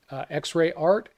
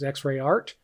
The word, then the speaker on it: XREART: the x-ray art and i sure hope i'm pronouncing that correctly but i believe that's how it's meant to be pronounced x-ray art and behind that is